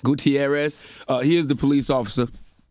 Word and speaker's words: Gutierrez: Am I pronouncing his last name right? Gutierrez? Gutierrez. Gutierrez.